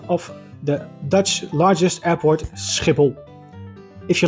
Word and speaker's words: Schiphol: skle scle so there it is the correct pronunciation of the Dutch largest airport skle if you like this video you can uh